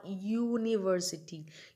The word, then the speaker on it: university: to use a a university university again this word starts with u u is a vowel but the sound comes of yo y o yo university university so that's